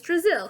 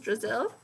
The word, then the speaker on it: Drizzle: Drizzle. Have you ever been to Brazil? Asked Eric Fry. No, explained Mrs. Drizzle. I was just a little joke. Brazil rhymes with drizzle.